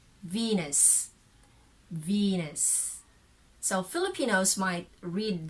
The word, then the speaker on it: Venus: how it is written so venice but that is red venus if you are referring to the goddess of love and beauty that's venus okay so but if your